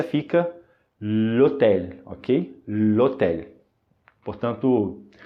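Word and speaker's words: l'hôtel: juntas como se fosse uma só e a pronúncia fica lhetéia OK portanto é por isso que é por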